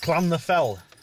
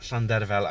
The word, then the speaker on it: Llandrillo: It's called Llandrillo, or as Andy Roberts called it, Clan the Fell. Old Andy Roberts. it's pronounced Llandrillo, and this little village